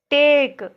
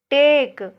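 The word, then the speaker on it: take: देखिए टेक, टेक में भी ई का उच्चारण नहीं हो रहा है, देखिए टी ए के ई टेक।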